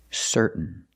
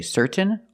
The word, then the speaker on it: certain: Now let's practice with some words ending in T-A-I-N. Example, certain. Certain. You can say certain or certain, but don't say certain. It's certain.